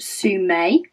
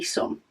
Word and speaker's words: Some: thinking uh she said it's pronounced Sue may but spelled s-o-m-e um which means most people that don't know me just call me some which is why I've